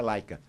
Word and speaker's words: Leica: Tanto que, por exemplo, ela era tão conhecida porque em alemão se pronuncia Leica. E hoje ninguém mais fala Leica. A gente pronuncia como está escrito em português, que escreve Leica.